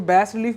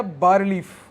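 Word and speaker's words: bas-relief: Also features, next line, also features bas relief, BAS dash RELIEF, इसको बैस रिलीफ बोलते हैं या बार रिलीफ, ऐसे प्रोनाउंस करते हैं इसको।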